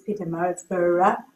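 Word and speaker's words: Pietermaritzburg: called the boy from Peter Maritt pronounce that correct okay cool so I will never forget that it's Peter Marsburg So I know where this comes from now.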